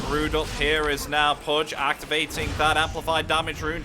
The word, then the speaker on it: Pudge: Pooch. I mean, they have I the, pronounced they that have right, the Epi. Glimpse still. Still no ultimate for the Disruptor. What did you say? Pooch. Pudge.